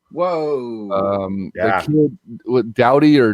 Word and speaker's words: Doughty: The kid with Doughty or Doty, I don't know how to say his name, down in Drew LA. Doughty.